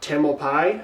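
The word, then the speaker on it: Tamalpais: uh in 2021 at Mount taml Pai I think is how you pronounce it and the other two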